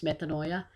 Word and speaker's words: metanoia: But actually, the correct pronunciation is metanoia.